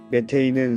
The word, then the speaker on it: 메테인: 메테인은 상온, 대기압에서 기체인 무색무취의 알케인으로 메탄은 독일식 발음을, 메테인은 영어 발음을 한글 표기한 것입니다.